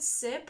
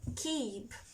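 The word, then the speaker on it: Cib: Let's begin with Sip or Chip. Oh well, it's pronounced Keep.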